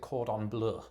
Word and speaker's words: cordon bleu: I pronounce it cordon bleu.